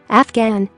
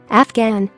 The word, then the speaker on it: Afghan: Afghan, Afghan. Ghost, ghost. Ghetto, ghetto. Ghana, Ghana. Spaghetti, spaghetti. Gherkin, gherkin. G is silent in the following GN words.